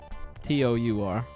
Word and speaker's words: tour: Most people outside of, I guess maybe outside of New York, it's a lot of people say it's two syllables.